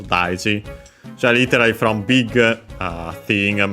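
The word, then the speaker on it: 大事: Accent on the first mora, this one, the second most common accent for those, daiji.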